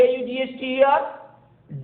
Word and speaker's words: daughter: DAUGHTER, daughter, because we don't pronounce GH.